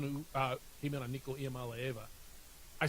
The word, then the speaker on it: Iamaleava: He's the one who came in on Nico Iamaleava.